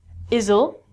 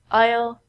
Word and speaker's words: aisle: The S in these words are silent. We don't say isle and isle. We say aisle, aisle, aisle.